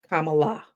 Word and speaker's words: Kamala: And for those who still don't understand how to say it, it's a comma and an Allah. Kamala Harris, okay?